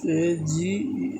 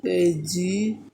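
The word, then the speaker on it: age: এর মাঝখানে যদি কনসোনেন্ট থাকে তখন এ এর উচ্চারণ এই এর মতন হয় যেমন একটা উদাহরণ দিয়ে দেখি উদাহরণ হতে পারে এবং বয়স এ জি এইচ এই যে ভাওয়েল এ এবং লাস্ট লেটার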